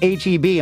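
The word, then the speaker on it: H-E-B: mean and they're like it's pronounced HB I'm like well this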